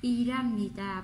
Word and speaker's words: 일합니다: 일합니다 vẫn được nhé. 일합니다. 일합니다. Đọc nối qua chữ riêng của il nối qua chữ hiện, bỏ qua chữ hiện luôn. Đọc là 일합니다 thì vẫn đúng nhé.